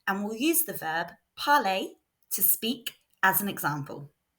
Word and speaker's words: parler: So we are looking at the verb to speak, which in French is parler. Note that in French, ER is pronounced A, so it sounds like this. Parler.